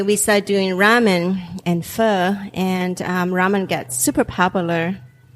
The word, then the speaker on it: pho: Actually, when we first opened Bonito, we started doing pho on Saturdays and also ramen. Now, wait a minute. Everybody, pronounce that again.